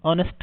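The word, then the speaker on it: honest: यह तो बहुत इजी है यार ऑनेस्ट इसको प्रोनाउंस कैसे करते हैं ऑनेस्ट यानी ए से बनता है ए ओ एन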